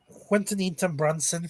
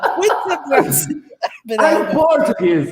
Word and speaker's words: Quinta Brunson: Quintanita Brunson for Abbott Elementary.